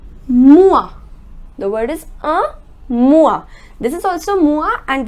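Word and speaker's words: moi: in French all right so whenever oh I comes together the sound is wah separately the sound of oh is oh and the sound of I is II but together the pronounce it as or alright so let's suppose if the word is M o I then the pronunciation becomes more which means me alright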